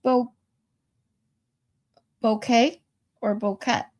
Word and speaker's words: Bouquet: It's pronounced bo bouquet or bokeet. Bouquet. We say bouquet like a flower bouquet.